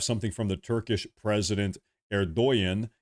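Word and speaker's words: Erdoğan: Erdogan is how you pronounce his name, I believe.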